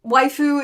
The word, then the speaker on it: waifu: Um waifu is basically Japanese pronunciation of the word wife.